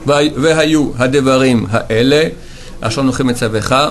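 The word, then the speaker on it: מְצַוְּךָ: Alors, vehayu hadevarim haele, asher noche metzavecha, metzavecha, pas metzavcha, metzavecha, de nouveau un shvana.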